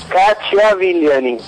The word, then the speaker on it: Cacciavillani: ¿Y se pronuncia? Bueno, espero. Cachia Vilani.